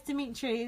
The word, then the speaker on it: Demitri: he name it's Demitri no it's Demitri they say say he had a t-shirt that on oh really said dumb eat trees so you're saying that Kevin is the only one who's been pronouncing his name right actually even I can call him Demitri there was a scene